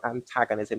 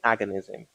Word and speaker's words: antagonism: It's called mutual antagonism. Not mutual agonism.